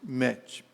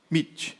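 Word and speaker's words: Meet: 20horas através do aplicativo mete né mete mit mit a pronúncia correta né mit então a todo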